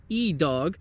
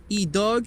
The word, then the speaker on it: Idog: Today we're throwing the Kastaplast Idog, which in Swedish I think is pronounced Idog.